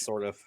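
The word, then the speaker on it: Sourdif: Hey man, but he did lose Justin Sordif, if that's even how you say his name. So that's a Just huge. sort of, yeah, Sort of is how you say his name.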